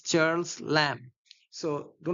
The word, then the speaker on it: Lamb: The last B is not pronounced. It's Charles Lamb. So do not say Charles Lamb.